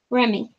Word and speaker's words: Remy: With a short E and a long I sound. Remy.